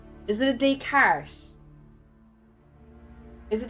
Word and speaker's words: Descartes: I know his name, but I always fuck up the pronunciation. Is it a Descartes? Is it Descartes?